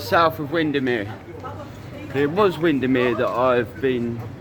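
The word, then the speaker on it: Windermere: It was Windermir that I've been saying I have been saying it right.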